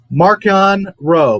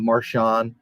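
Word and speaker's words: Marchion Ro: at the video before Maron row by the way that's how it's said it's not marshan because Charles Soul says it uh Maran Maron row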